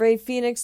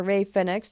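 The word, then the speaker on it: Rey Fénix: after that you have ray phoenix teaming or ray fenex depending on your pronunciation teaming up with taurus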